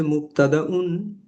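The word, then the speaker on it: مبتدأ: এটার প্রোনাউন্সিয়েশন হচ্ছে মুক্তাদাউন, মুক্তাদাউন, সংক্ষেপে মুক্তাদা। আর খবর, গতকাল বলছিলাম খবর আর কিছুই না, আমরা যে খবর বলি বা শুনি, এটাই নিউজ, ইনফরমেশন, এটা খবরুন।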